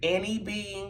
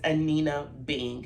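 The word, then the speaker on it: Anine Bing: Because sometimes I feel like I hear Annie Bing or I hear other pronunciations, but it is pronounced Anina Bing, and I think that might be one of their flagship stores.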